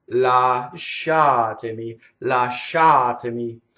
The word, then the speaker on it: Lasciatemi: its la shot any last shot to me so that is completely on the second syllable okay if I do it wrong last shot to me the she is on the first civil so if I slowed